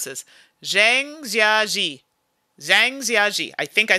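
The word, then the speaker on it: Zhangjiajie: coming out okay i'm going to try and pronounce this zhang jiaji zhang i think i said that right if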